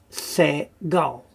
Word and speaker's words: segol: And then we have se-gol. Now, just as the name represents, it's se, very short E sound.